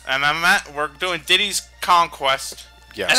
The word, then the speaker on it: Diddy's Kong Quest: diddy's conquest yes and i had to stop a bit to pronounce that properly yeah every one of the grandmother always pronounced it a city kong's quest but nope you're wrong everyone was wrong matt your childhood is